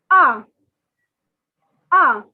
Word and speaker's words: un: one to ten so one in french is ah ah okay whenever you are remembering something you make the sound ah ah similarly the pronunciation is ah ah it is not an it is not you nothing it is ah ah the number two